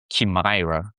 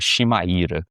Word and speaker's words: Chimaira: A pronúncia, acho que americana seria Chimaira, mas a pronúncia abrasileirada que eu dou é Chimaira, pra ser bem direto, né.